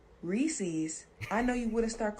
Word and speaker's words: Reese's: It's supposed to be Reese's Pieces. Mm-hmm. You don't add an apostrophe S to the name Reese and start saying Reese's. Reese's Pieces?